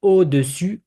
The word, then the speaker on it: au-dessus: Now we have au-dessus, au-dessous. So above and below. So I don't know if you can hear the difference. I'm gonna repeat, but try to get it.